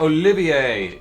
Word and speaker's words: Olivier: what you think but Olivier is how it's pronounced because it's French so you would not pronounce the r that's why nobody likes